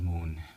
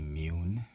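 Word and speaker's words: Muun: u u n um I thought it was moon but it's actually imune and uh he's very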